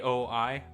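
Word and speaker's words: Aoi: said it wrong uh well it's a o i oi inuyama yeah her I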